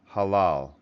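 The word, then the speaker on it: הלל: And it's pronounced halal.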